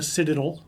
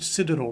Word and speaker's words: Citadel: And then you went on to university, the Citadel. I did. Now they pronounce it Citadel, right?